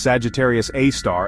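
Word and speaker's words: Sagittarius A*: It's called Sagittarius A, pronounced Sagittarius A star.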